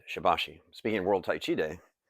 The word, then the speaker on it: Shibashi: know without mentioning that some might say the pronunciation is Sherbasher, but we've always heard it is Shabbashi, place where we were last introduced to it.